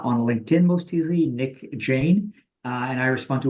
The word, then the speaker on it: Jain: find me uh on LinkedIn most easily uh and I respond to 100% of messages uh that people send me on linked so glad to be helpful and and Jane is spelled j a i i n right right